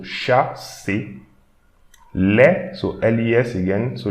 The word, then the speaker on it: chasse: So again, CH, so we should pronounce English SH. So SH and A, so sha. And again, ER, so A. So chasse.